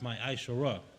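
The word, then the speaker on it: מעשר: Means 10th in the Hebrew and is pronounced my Aishorah.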